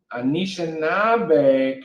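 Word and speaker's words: Anishinaabe: ashinaba way make sure let me let me pronounce this correctly is anisha nabe anishinabe tradition mission limit with silly mackinac their spiritual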